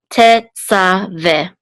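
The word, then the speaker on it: תְּצַוֶּה: And then the three dots says this is a segol, and this hey is silent. So this is ve. Tetzaveh.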